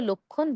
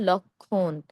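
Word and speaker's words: লক্ষ্মণ: কিন্তু আমরা এটাকে আসলে লক্ষণ বলব না। এটিকে আমরা বলব লক্ষণ। কেন? ক্ষীয় এর সঙ্গে দেখুন একটি ম আছে।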